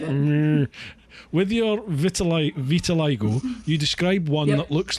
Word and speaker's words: vitiligo: With your vitiligo, is it vitiligo? Is that how you pronounce it?